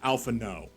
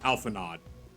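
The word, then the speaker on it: Alphinaud: character names sometimes because there is clearly a d at the end of this at this character's name but it's pronounced alpha no like and not alphanod right it's like everyone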